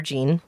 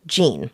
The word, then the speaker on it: Jeanne: it could be Jen it could be whatever number there's so many pronunciations of this so I'm going to call her Jean so we're just going